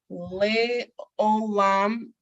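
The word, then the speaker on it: לעולם: Le'olam, pronounced le'olam, meaning forever and ever.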